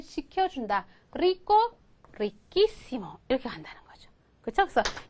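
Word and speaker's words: riquísimo: 그래서 우리가 그냥 발음만 생각하면 여기다가 이시모를 붙인다 생각하면 리꼬, 리끼시모 이렇게 돼야 되잖아요. 그쵸? 그쵸? 리끼시모 이렇게 돼야 하는데 얘를 그냥 아무 생각 없이 리에다가 오 빼고 이시모를 이렇게 붙이잖아요. 그럼 얘는 어떻게 읽게 돼요? 리시시모가 돼버리죠. 그쵸?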